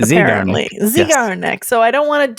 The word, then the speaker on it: Zeigarnik: And apparently I didn't because I just approached it from a German mindset, and pronounced it Zeigarnik. But apparently it's not.